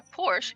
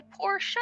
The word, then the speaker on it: Porsche: he said it right he said it he pronounced it correctly that's how you say it it's not a Porsche it's a Porsche show I'm I'm just wondering why you got this